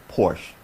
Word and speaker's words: Porsche: you see how that rolled off my tongue Porsche Porsche is the proper pronunciation but see I grew up in Southern